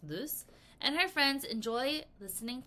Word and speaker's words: Luce: It says here in our textbook, Luce, pronounced loose, and her friends enjoy